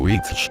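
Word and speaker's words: wicce: o sabio y de la palabra wike que se pronuncia como bitch que significa bruja en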